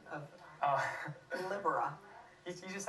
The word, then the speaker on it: Libera: help me with and that is the correct pronunciation of oh Libera you just said it right that's libera Libra